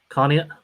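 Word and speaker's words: Conneaut: connect is it connect am i am i pronouncing it connie okay connie sex wilmington 14 greenville 7 hickory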